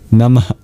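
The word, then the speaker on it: नमः: Finally, at the end of nama is a mini exhale symbolized by an H with a dot under it or these two dots you see in the dva nagari. It's known as a visara an expulsion of breath nama.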